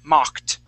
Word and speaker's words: mocked: Now, I believe you pronounced your ED correctly, but that O, that O in the word is going to sound like an ah sound, okay? So, we're going to say mocked. Mocked.